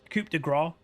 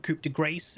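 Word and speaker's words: coup de grâce: standard over heel bloodline Coupe DeGraw or Coupe De Grace if the southern people pronounce it that way which is I think is wrong and then magical Footwear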